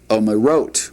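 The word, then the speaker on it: אומרות: I keep on wanting to get the emphasis on the may, but hen omerot would be the way that would be pronounced.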